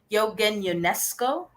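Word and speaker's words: Eugène Ionesco: So his name is pronounced as Yogan or Yogan UNESCO. So UNESCO.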